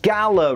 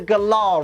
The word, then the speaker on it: Galar: Actually, Liam, I think you'll find the official pronunciation is the Galar region, not the Galar region. Yeah? Well, I'm from the country the region's based on, and here we call it Galar, so do one.